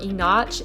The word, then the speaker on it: Enoch: Enoch spelled E-N-O-C-H, kind of looks like Enoch or Enoch. It's pronounced Enoch.